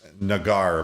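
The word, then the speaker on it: Naggar: a better chance than chris nagar by the way folks is the way you pronounce it and you know defensive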